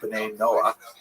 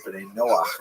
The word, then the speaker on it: B'nai Noach: And this is basically a Hebrew term, B'nai Noah, or B'nai Noach is the way Jews would pronounce it, that refers to all